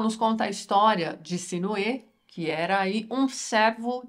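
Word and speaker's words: Sinuhe: que eu vi pessoal os hs dos nomes próprios aí do Egito não são pronunciados né eles não TM aquele som de R mas eu tenho um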